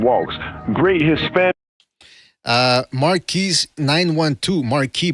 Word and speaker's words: Marquis: Marquis 912, Marquis, by the way, that's the French pronunciation, says Mexicans are snack to Juanito.